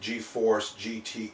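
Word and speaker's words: GeForce: this is a vega or eva or that's pronounced g-force 760.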